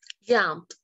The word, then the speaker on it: jumped: Jumped. ¿Por qué? Porque tenemos el verbo jump, pero su sonido es bajo. Jump. Por lo tanto, se pronuncia jumped. With T.